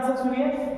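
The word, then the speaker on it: tsetse: बच्चे सभी लोग ध्यान से सुनिए ये सबसे इंपॉर्टेंट है प्लीज इसको याद रखिएगा जिसको कहा गया है सीसी फ्लाई क्या कहा गया है सी सी फ्लाई टी साइलेंट है लिखिए सीसी फ्लाई इज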